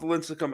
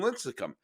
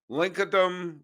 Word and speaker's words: Lincecum: bumgarner and lincecum started my father never pronounced their names correctly lincoln dumb lucincum lunakum boom garner bam gardner baumgardner there was always something slightly off boom gardner but uh